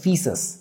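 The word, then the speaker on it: faeces: এটাকে ইংরেজিতে বলা হচ্ছে মিনারেল ফিসেস, ফিসেস উচ্চারণটা হচ্ছে ফিসেস।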